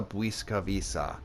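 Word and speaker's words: Błyskawica: stroke in English and is apparently pronounced like a w meanwhile the W is pronounced more like V and the C is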